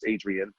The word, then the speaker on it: Adrian: So in 2010, I just started the Adrian, which is, the Spanish is Adrian, but in English it's Adrian.